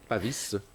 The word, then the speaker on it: Pavis: Pavis. Pavis. Pavis. Pavis, on prononce le S. Bah, moi, je le prononce.